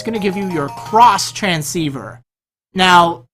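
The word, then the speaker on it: Xtransceiver: to give you your cross transceiver now the item is spelled out X transceiver but don't be a noob because it's pronounced cross transceiver although I'm guessing probably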